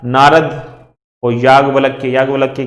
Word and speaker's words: याज्ञवल्क्य: नारद और याज्ञवल्क्य, याज्ञवल्क्य की स्पेलिंग यहां गलत लिखी हुई है, लेकिन ज्ञा आएगा उसमें, ज्ञान वाला ज्ञा, ठीक है।